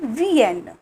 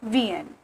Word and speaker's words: viennent: Okay, V-E-N-O-N-S, nous venons, vous venez, okay, vous venez, ils, elles viennent, okay, ils, elles viennent. So here we do not pronounce ENT and we just pronounce only VN, okay, ils, elles viennent.